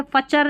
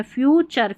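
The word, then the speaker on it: future: यह देखिए ने और चर नेचर प्रकृति नेचर पिक्चर चित्र यहां पर देखिए फ्यू और चर फ्यूचर फ्यूचर। ठीक है? फचर नहीं पढ़ना है। फ्यूचर फ्यूचर का मतलब भविष्य।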